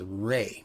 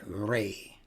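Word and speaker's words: راء: It should be Ra and not Ray.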